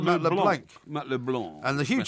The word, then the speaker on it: Matt LeBlanc: He says, Porky, Matt LeBlanc's surname is pronounced to rhyme with Blanc, not with plank. You plank. Yeah, I said that. You said Matt LeBlanc.